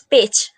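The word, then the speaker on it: Pécs: i supposed how is the correct way to pronounce again so i learn it's pitch university of pitch pitch okay cool all right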